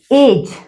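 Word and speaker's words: age: एज, अब देखिए ए जी ई एज, जी मत देखिए, गे नहीं बनाएंगे, ज की साउंड है, spelling ji but sound is जे, आप जे बनाइए ऑन द लाइन।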